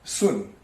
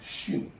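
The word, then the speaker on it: 巽: Above is the old pronunciation sun. Now it is pronounced xun.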